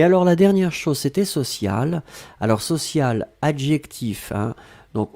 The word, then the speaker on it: sociale: Et donc le E à la fin, vous allez prononcer exactement de la même façon, social, mais vous devez quand même marquer le féminin puisque c'était directement lié au mot pression.